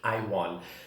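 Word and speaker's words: Aiwarn: That's actually her name, that's how it's pronounced. I was in doubt, but now it's confirmed, Iwon.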